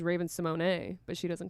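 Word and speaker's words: Raven-Symoné: Raven Simone. Her actual pronunciation is Raven Simone, but she doesn't correct anybody.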